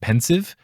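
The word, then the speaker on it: Pensieve: found very interesting is alan rickman / Snape's pronunciation of pensive because he says it like it's a French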